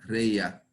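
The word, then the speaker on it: רֵעַ: cualquiera a su compañero, se pronuncia reia y significa amigo íntimo.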